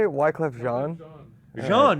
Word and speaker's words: Jean: Jean, it is a Haitian French name. Can you avoid swearing on our podcast, too? It's spelled like G.